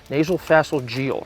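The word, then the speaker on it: nasopharyngeal: Correct pronunciation is nasal phalangeal.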